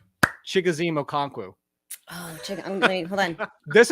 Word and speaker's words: Okonkwo: Lauren, spell Chigoziem Okonkwo.